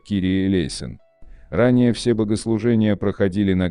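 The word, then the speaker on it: Κύριε ἐλέησον: сочинили знаменитую песню 496 молитва Господи помилуй на греческом языке произносится как Кири элейн ранее все богослужения проходили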